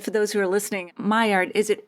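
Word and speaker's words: Maillard: those who are listening my Ard is it m a i l l a r d myard yes not pronouncing the L like I did at first okay cool my goodness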